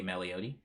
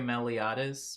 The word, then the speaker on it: Meliodas: Good day, Meliotti, says Brunetic. I was saying it wrong. I'm sorry, Meliodas. Meliodas.